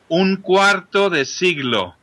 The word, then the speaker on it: Cuarto de Siglo: How do you pronounce that record correctly? Cuarto De Siglo.